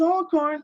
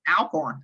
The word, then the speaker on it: Alcorn: I learned um that you pronounce Alcorn State all good all the time always all corn that's it and everyone goes on TV and they're like Alcorn Alcorn I know Yep this